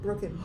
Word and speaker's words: Brooken: Brooken. Yeah. Oh wow! I always throw like 10 other syllables in there, even though there's no more letters. No, it's only Said it right. 2 syllables.